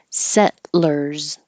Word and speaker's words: settlers: very similar to earring this you can say with two syllables settlers or three syllables but really you're kind of using a syllabic l when you say settlers settle when your tongue